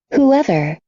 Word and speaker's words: whoever: whoever, Whoever. Lembra que eu falei que o W é o A. O A. Nesse caso, eu não tenho whoever. Não dá. É só who, H. Esse H é pronunciado.